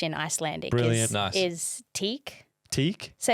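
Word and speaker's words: tík: Is teak. Teak. So it's so easy. That's nice and quick. yeah, yeah. Take that. Teak, yeah. Take that. Call someone from Korea. Oh, Teak.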